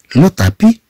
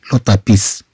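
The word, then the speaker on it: le tapis: هنا عندنا سور يعني فوق، لو طابي فوق السجاد. طبعا لا نقراها هنا لو طابيس، لو طابيس، بل نقراها لو طابي. هاد اس ما تتنطقش، هكذا الكتابه عندهم.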